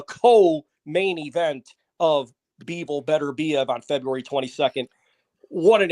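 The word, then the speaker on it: Beterbiev: so that that is the correct pronunciation of better beev right it's not betv or you know we've yeah it's been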